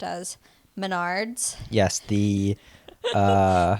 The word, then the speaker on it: Menards: of nachos but like Menards looks like it could be pronounced Maynards if you no it's